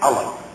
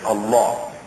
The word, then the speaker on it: Allah: their God Allah, or it's usually pronounced in the West as Allah. We pronounce it actually as Allah.